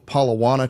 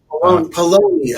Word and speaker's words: Paulownia: Uh you you did the Palo Palana trees. Palonia.